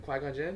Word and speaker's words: Qui-Gon Jinn: qui-gon jinn quite quite you said it right quack on jen yes i nailed it yes yes oh it